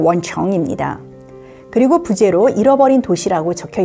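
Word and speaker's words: 文城: 표지에 보시면 한자로 문성이라고 적혀 있는데요. 중국어 발음으로 원청입니다.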